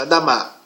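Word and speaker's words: אדמה: Mas juntando todas as palavras, as letras consonantais, aparece essa pronúncia, Adamá.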